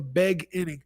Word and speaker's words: The Beg Inning: An artist named Fliz, The Beg Inning. An artist named Fliz, The Beg Inning. It looks like it's beginning, but it's not. You gotta pronounce it's Beg-Inning.